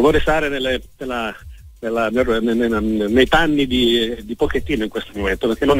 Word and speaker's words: Pochettino: Io dico Pochettino, tu hai detto giustamente Pochettino, ma sai, Pochettino è di origine italiana, quindi io sono, come dire, legato al suo cognome pronunciato, certo, in italiano, anche se so che naturalmente è corretto come tu l'hai pronunciato.